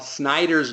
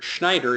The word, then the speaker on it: Snyder: from our mastermind, and I have once again pronounced Bob Snyder's name wrong, and Schneider is how I pronounced it. I am sorry about that. That is, again, my mistake for being too passionate and speaking too fast. It is Snyder, Bob Snyder, not Schneider.